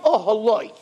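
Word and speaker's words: אהלה: Vayet oholoi. He pitched his tent, and it's spelled Aleph Hey Lamed Hey.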